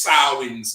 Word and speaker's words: Samhain: is spelled s-a-m-h-e-i and i think but it's pronounced sarwin's day right so let's get that first and